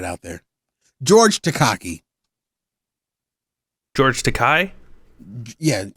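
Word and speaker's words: Takei: George Takai? Yeah, I say George Takaki because it's pronounced Kai, but it's spelled Takaki.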